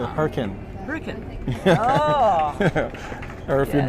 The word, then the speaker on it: Hurricane: It's like I was in Utah and they don't say hurricane. They say hurricane.